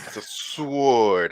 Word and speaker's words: sword: griffin it's sword yeah it's a sword it's what it is everybody why why are you overpronouncing the w what what do you